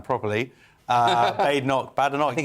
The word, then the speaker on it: Badenoch: Well, put that, like I said, Kemi Badenoch, when I finally know how to pronounce her name properly, Badenoch.